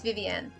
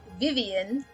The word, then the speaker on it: Vivienne: i think or vivienne i think it's viviane right so that's when you say vvn that's how it's spelled when you say vivian it's spelt like this those are different names and so she pronounced herself with the french name because she's french technically